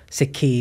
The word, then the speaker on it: Sikhi: Sikhi is how we pronounce it in Punjabi, the word means learning.